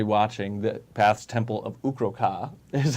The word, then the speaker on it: Ukro'Kaah: Anybody watching, the Path's Temple of Ukro'Kaah is how you Ukro'Kaah.